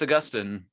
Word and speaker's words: Augustine: So how do you pronounce his name? Oh, it's Augustine.